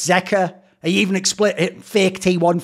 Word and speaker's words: Zeka: just explains that here's a good one it's Zea he even explain fake T1 fan actual person